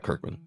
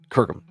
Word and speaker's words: Kirkham: Kirkham, sorry. Yeah, not Kirkman. Kirkham. I can't pronounce stuff.